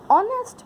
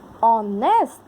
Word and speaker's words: honest: Honest person. H is silent.